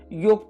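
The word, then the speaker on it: yolk: आकाश के अंदर next योक part of एन एग जो येलो पार्ट होता है सेंटर के अंदर उसको हम योक कहते हैं L silent here and second योक इज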